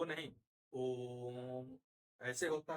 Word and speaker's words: ओम: मतलब होता है कि ओम का उच्चारण हम इस तरीके से करें कि जितना ओ के उच्चारण में समय लगता है उसका 3 गुना समय लगे और तब हम म बोले।